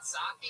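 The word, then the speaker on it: Psaki: Jen Saki. Is that how you say it? You don't say the P at all.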